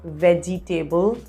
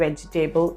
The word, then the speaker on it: vegetable: onion and this word not veggie table not vegetable it's vegetable vegetable i love doing photography